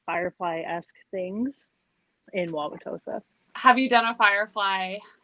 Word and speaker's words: Wauwatosa: names of the towns out there yeah it's wauwatosa and we keep saying hosa okay so i